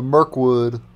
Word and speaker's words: Myrlwood: Oh, the Myrlwood. Not Myrlwood. Myrlwood.